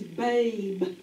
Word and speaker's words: babe: wrote that becomes a sneaky e word and that word is babe we don't hear the e so that's why baby